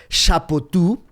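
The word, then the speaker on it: Chapoutot: Lo escribió un gran historiador que se llama Johan Chapotú. Se escribe c h a p o u t o t.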